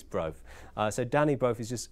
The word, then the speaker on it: Brofe: We were discussing earlier, I may be mispronouncing his name, it may be Brophy, but I think it's Brofe.